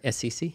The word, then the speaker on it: Assisi: Saint Assassin, or how do I pronounce that correctly? Assisi? Assisi, yeah.